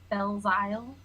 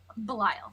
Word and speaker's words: Belial: split in directions so um his name is bell's isle as i am i pronouncing that right dm belisle bell isle i spelled it as bell and isle so yeah that makes sense belial thank you okay so his name is belial